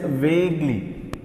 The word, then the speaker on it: vaguely: Though you write you here, you is silent. We read it as vaguely.